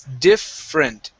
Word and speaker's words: different: Okay, this e right here in the middle, we're not going to pronounce that. It's different.